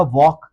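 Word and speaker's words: walk: इसको एल को साइलेंट रख के पढ़ेंगे तो बन जाएगा वॉक।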